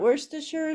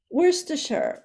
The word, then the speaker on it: Worcestershire: Wooster sauce is that is that that's not Worcestershire sauce that's something different um well I'm just